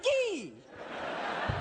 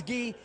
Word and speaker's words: Gay: Two weeks ago, I FOUND OUT MY LAST NAME IS from the Champagne region in France.